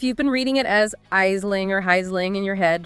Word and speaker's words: Aisling: The official pronunciation is still Aisling, but the author makes it clear this is really no big deal anymore.